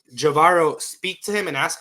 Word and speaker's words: Javairo: in the sense of like, did I'm gonna pronounce his name incorrectly. Javaro. Javairo speak to him and ask him, "Hey, what's life like in Mexico?"